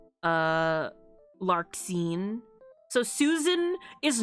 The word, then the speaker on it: Larxene: I'm putting the X here, but so many of the names pronounce it like Z, like Xehanort, Larxene.